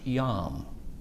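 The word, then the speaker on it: יום: But here's the word day, yom. And this is an interesting word. The E is silent there, and it's pronounced yom.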